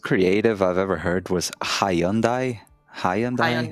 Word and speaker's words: Hyundai: it's h it's it's Hyundai or Hundai right like a little h before yeah the H pronounce